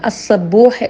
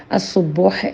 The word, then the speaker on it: അസ്സുബ്ബൂഹ്: അള്ളാ ഇന്ന് നമ്മൾ അല്ലാഹുവിൻറെ അസുബോഹ് എന്ന നാമത്തെ സംബന്ധിച്ച് മനസ്സിലാക്കുകയാണ് നമ്മൾ അറിയണം ഈ നാമത്തിന് അസ്സബോഹ് എന്നും ഉച്ചാരണമുണ്ട് എന്നാൽ ഏറ്റവും കൂടുതൽ പ്രചാരത്തിൽ കാണുന്നത് അസുബോഹ് എന്ന നാമമാണ് എന്നാണ് പറയപ്പെടുന്നത് ആരാധനക്ക് അർഹനായവൻ അള്ളാഹു മാത്രമാണല്ലോ